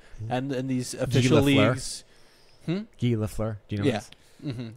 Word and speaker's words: Lafleur: Lafleur. You know, that's where, how you say it in Canada, I believe. Yeah, in French Canadian.